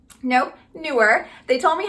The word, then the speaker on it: Neewer: So this video is actually going to be a sponsored video by Neewer. Nope, Neewer. They told me how to pronounce the name, but by Neewer.